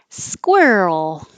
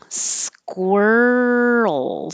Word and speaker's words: squirrel: bully bully squirrel squirrel so this movement between the r and the l is what makes the roll noise that you need squirrel keep making noise as you move from the r to the l squirrel skewer skew it's